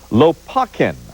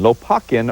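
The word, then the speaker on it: Lopakhin: checkov plays and I'm going to have to pronounce some words here so bear with me Lakin l o p a k h i n Lakin urges the revi family to cut down a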